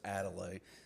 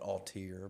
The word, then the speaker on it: Adelaide: Um, that is the way you pronounce it by the way. It is Adelaide. There's some people call it Altier.